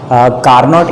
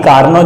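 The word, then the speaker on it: Carnot: वैसे इसकी pronunciation T silent करके हम चाहें तो कार्नो इंजन पढ़ते हैं, तरीका कार्नो इंजन है पढ़ने का।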